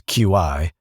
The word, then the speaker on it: Qi: That's Qi, pronouncedqi, because of course it is.QI defines how devices and chargers talk to each other.